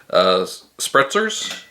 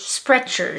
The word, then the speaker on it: Sprecher: This one is a special version of the Spretzers. I think is how it's pronounced. Spritzer. Yeah, Spretzers is... Sprechers? Sprechers.